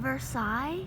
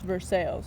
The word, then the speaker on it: Versailles: is Versailles where Versailles do you mean Versailles no it's pronounced Versailles Versailles Indiana when I called out